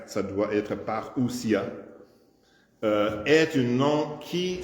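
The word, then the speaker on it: παρουσία: Alors en anglais he alors le mot grec paria prononcé par j'ai j'ai dans la prononciation j'ai j'ai je n'ai pas mis le r ça doit être paria euh est une nom qui signifie une venue.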